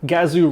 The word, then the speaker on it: Gazoo: know gr stands for gazoo racing which is frankly an awesome name anything that rhymes with kazoo is good with me oh hi now gazoo